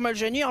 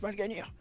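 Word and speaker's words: Mal'Ganis: Twitter et au passage moi je dis toujours mal gênir mais ça se prononce pas comme ça ça se prononce malganir je trouve que c'est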